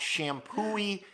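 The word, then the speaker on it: Champoeg: shampoo East a park but what was weird about is it's spelled like CH am champagne p OE g and thanks to Debbie Falls helped me organize that one night she told me she goes just think of washing your hair shampoo shampoo E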